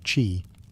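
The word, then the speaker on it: qi: At the heart of acupuncture is the concept of ki, pronouncedq chi, the life force or energy that flows through the body along invisible channels called meridians.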